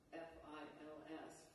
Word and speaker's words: fils: and I love this, the title in French is F-I-L-S, fils or fi, which means either son or thread, depending on how you pronounce it.